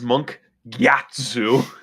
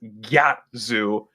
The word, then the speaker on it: Gatsu: with this card, uh, it is Monk Gatsu. I am building this in casual and if any of my friends pronounce it as Gatzu, I am going to be killing them first.